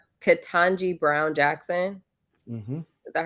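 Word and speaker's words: Ketanji: Katanji Brown Jackson.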